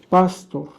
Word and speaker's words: Pastor: En Alemania, por ejemplo, se usa la palabra pastor con acento en la A para referirse al sacerdote católico. Pastor. Y pastor con acento en la O para referirse al ministro evangélico.